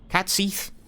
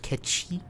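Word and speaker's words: Cait Sith: Cat Seath. Actually, it's pronounced Ketchi.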